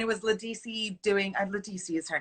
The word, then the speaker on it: Ledisi: gold cherry and it was ledecie doing and ledisi is her name yes isabelle correct me from